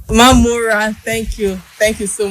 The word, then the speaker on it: Mamora: Our guest is none other than Senator Adeleke Mamora. Welcome, Honorable Minister. Thank you very much. The name is Mamora. Mamora, thank you.